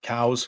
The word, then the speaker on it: Coues: Some people call it cows because I think the person who found was actually his name was pronounced cows. Oh, really? But like the Americans that we are, we butchered it and call it Coues deer now, so it's fine.